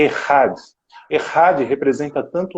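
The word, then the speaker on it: אחד: e nós juntamos caminho, Jesus está dizendo uma outra palavra em hebraico, que sua pronúncia é Errad.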